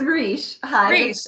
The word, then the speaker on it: Roche: family of peter roche please tell me how to pronounce your name correctly yeah it's rich okay which is another